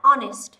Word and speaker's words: honest: Hay một số từ hay từ khác như là honest, honest, h bị câm.